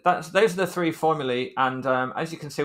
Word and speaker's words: formulae: looking by the way when i say formulae and i'm pronouncing it a bit weird that's just the plural of formula so we say one formula or two formulae and it's felt like that okay so we're gonna